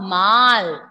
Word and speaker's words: mal: Yes, here L is not silent. L we will pronounce. Ça va mal.